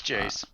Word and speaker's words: Jace: uh number four is jace or jc i don't know how you say it from league of legends it's jace okay i was right the first time then number three i'm